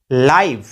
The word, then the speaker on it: live: for example लाइव, LIVE, जब भी हम लाइव लिखते हैं तो लाइव में साइलेंट ई है देखिए अंत में, इस ई